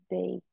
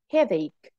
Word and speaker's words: headache: No, it's like a K. Headache. Like this. Headache.